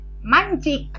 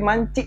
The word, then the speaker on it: mancik: Hai Mai Hai anak-anak bagaimana bacanya mancik bukan mancing tapi mancik Hai kannya tipis-tipis gimana